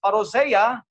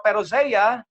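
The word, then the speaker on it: Parousia: At yung perose mga kapatid ko you can pronounce as parosea or perosea parehas lang po yan dalawang pronation iyan okay it means advent waiting ah we're referring to the second coming.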